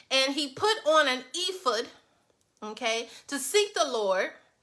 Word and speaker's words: ephod: It's called ephod. It's spelled E-P-H-O-D.